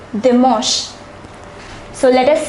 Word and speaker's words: dimanche: It is dimanche. The pronunciation is a little different. It is dimanche.